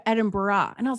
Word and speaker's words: Edinburgh: weird american accent because americans who don't who are smart enough not to say edinburgh still say edinboro but there's like an extra syllable in there and with her irish accent she was saying like edinburgh like edinburgh and i was like